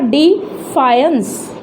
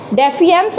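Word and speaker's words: defiance: उसके बाद आता है हमारा डिफायंस, इसे बोलकर देखिए, डेफियंस नहीं है ये, डिफायंस, तो 3 बार हमारी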